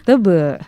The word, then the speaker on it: teba: Kalau tulisannya sih teba. Teba. Teba. Tapi bacanya tebe. Bahasa apa tuh? Itu bahasa Bali.